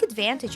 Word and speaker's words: advantage: he pronounces this word he drops the T in the NT letters combination listen to it again and repeat taking advantage of my good